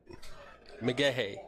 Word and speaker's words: McGaha: I have asked Nate, and it is Mcgaha. Okay. But not so slowly. Mcgaha.